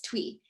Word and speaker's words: Thuy: So this idea came to me both from Thuy at, I always pronounce her name wrong, I'm so sorry, it's Twee, from the House of Playful Soul in New York.